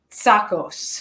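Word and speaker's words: Tsakos: please forgive me uh anastasios sakos tacos yeah the t is silent yes yeah luckily i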